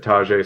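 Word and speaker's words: Tyjae: he looks great um the name that's what I read and I listened to an interview and they said Tajay so I hope I'm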